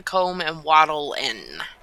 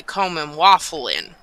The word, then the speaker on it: Comb and Wattle Inn: The Comb and Wattle Inn. I used to say the Comb and Waffle Inn. But, apparently it's not waffle.